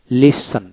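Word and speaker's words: listen: করা produce produce তারপর লিসন লিসন এল আই এস লিসন র উচ্চারণ হবে না লিসন লিসেন মনোযোগ সহকারে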